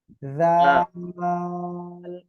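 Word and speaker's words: ذال: এরপরে দেখেন এই অক্ষরটা শিখব, জাল, একসাথে বলেন। মাশাআল্লাহ, দেখেন এই অক্ষরটা কোন জায়গা থেকে উচ্চারণ হবে আমি দেখাচ্ছি। জিহ্বার আগা, এই দুই দাঁতের আগায় লাগান। জাল, জাল, সবাই একসাথে বলেন তো।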